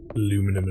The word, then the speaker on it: aluminium: Well, yeah, I mean, we spell it differently though, right? So, I mean, that in its own constitutes a different pronunciation. Like, they're not spelt the same way, those words. So, aluminum and aluminium.